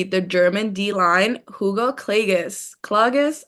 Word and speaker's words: Klages: Klages, am I pronouncing that right? That is correct. Both ways were correct.